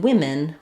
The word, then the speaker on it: women: But in women, we don't follow that rule. We just have the i sound in that second syllable.